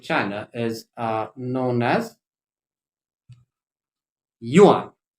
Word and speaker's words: yuan: currency in domestic china is uh known as yuan y-u-a-n yuan so it's a country with it's it's